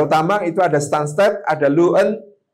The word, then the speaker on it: Luton: itu ada stunst ada luen tulisannya luton bacanya luen tnya mubadir luen itu waktu saya